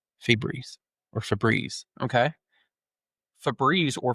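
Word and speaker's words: Febreze: Or well, Fu, but it's pronounced free. Freebreeze.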